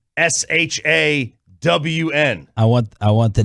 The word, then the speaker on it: Shan: I said Sean and RJ, and I wrote in parentheses pronounced SHAWN.